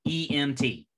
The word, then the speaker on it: EMT: An abbreviation is pronounced with each letter separately. Example, EMT would be an abbreviation.